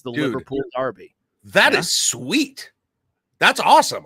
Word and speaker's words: Derby: is awesome a name it's spelled Derby but it's over there it's pronounced Darby a Darby Bingo you